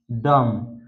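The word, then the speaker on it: dumb: बाद बी आता है तो वहां पर बी साइलेंट रहता है जैसे जैसे थम थम उसके बाद कॉम बम डम तो इन सभी वर्ड में आप देख सकते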